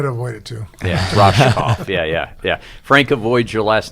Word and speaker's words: Rohskopf: It's Rohskopf. Yeah. Like an Rohskopf. SH. Rohskopf. Yes. I never say last name, so I had to learn I try to avoid it, too. Yeah, Rohskopf.